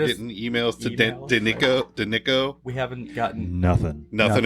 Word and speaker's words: Danicko: is more how you pronounce it. Danico.